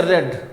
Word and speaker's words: read: Spelling वही रहेगी, लेकिन इसको हम लोग क्या पढ़ेंगे, रेड। अब रिकॉग्नाइज आप कैसे करेंगे, आप टेंस के अकॉर्डिंग रिकॉग्नाइज करेंगे। अगर ये फर्स्ट फॉर्म में होगा तो रीड पढ़ेंगे, सेकंड फॉर्म में होगा तो क्या पढ़ेंगे, रेड पढ़ेंगे।